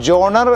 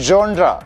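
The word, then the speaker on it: genre: number two ആദ്യമേ പറയട്ടെ ജി എൻ ആർ ഇ എന്ന് എഴുതുന്ന ഫ്രഞ്ച് വാക്കിന്റെ ഉച്ചാരണം ആദ്യം പഠിക്കണം നാട്ടിലെ അഭിനവ സിനിമാ ഭുജികം അത് ജോണർ എന്നോ ജോണർ എന്നോ അല്ല ഫ്രഞ്ച് ഉച്ചാരണം അല്പം ബുദ്ധിമുട്ടാണ് അതുകൊണ്ട് കൊണ്ട് ഇംഗ്ലീഷ് ഉച്ചാരണം പറയാം അത് ജോൺ അല്ലെങ്കിൽ ജോൺട്ര എന്നൊക്കെയാണ് പറയേണ്ടത് വെൽ കുറ്റം പറഞ്ഞു കഴിഞ്ഞ്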